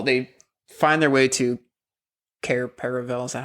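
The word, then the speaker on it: Cair Paravel: have this whole they find their way to car paravel is that how it's pronounced I can't remember yeah yeah that's right car paravel where they see um procession the Old King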